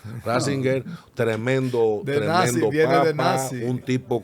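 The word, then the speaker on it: Ratzinger: que era un tipo Nassinger. Lo está pronunciando mal. Ringer. Ninger. No, no, no. Está Rassinger.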